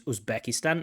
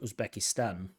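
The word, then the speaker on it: Uzbekistan: of that outside of usbekistan stress on the Stan now now again is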